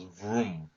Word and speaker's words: Vroom: very interesting one is sticker symbol vrm and they pronounce vroom I didn't know that